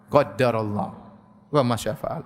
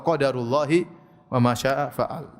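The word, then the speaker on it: قدر الله وما شاء فعل: Qaddarallah wa ma syaa fa'al, atau qadarullahi wa ma syaa fa'al.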